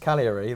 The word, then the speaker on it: Cagliari: I've just pronounced Cagliari right, and you did 3 it.